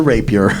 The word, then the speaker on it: rapier: can I use my Rapier it is a Rapier okay we didn't know how to say it